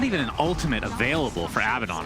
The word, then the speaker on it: Abaddon: You said Abaddon again. It's Abaddon.